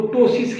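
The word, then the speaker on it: ptosis: टोसिस P silent है।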